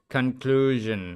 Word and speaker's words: conclusion: Conclusion. Okay. It It sounds like not shun. Jen. Conclusion. Before previously I I I spoke like that. My I mean my pronounce was like con conclusion not conclusion. Conclusion.